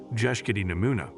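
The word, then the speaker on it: Bjeshkët e Nemuna: Head north and you'll run into a terrifyingly beautiful mountain range called the Albanian Alps or as the locals say, Jesi Namuna, these mountains.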